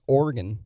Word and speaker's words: Oregon: It's Oregon, like in your body, and it's Willamette.